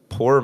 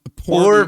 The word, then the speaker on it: Por: Poor MedTech. Does that not sound like it's just bad MedTech? Yeah. Is it poor like P-O-O-R? No, it's P-O-R, but I mean, how else would you pronounce that?